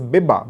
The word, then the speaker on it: Biba: even for boys at times however it is pronounced as Biba B ibba in Punjab as I was in